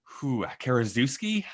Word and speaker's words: Karaszewski: This movie is written by the writing team of Scott Alexander and Larry Karaszewski, I think is how you say his last name.